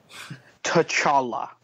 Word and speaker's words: T'Challa: How do you pronounce that? T'Challa.